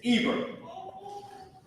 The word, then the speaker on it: Eber: This word Ibar is Eber.